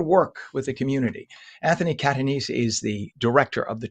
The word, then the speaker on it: Catanese: It's Catanese.